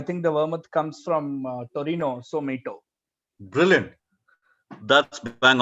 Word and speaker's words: Torino: That's how Italians pronounce or write Turin. That's how you get Mito. It's from Milan and Torino.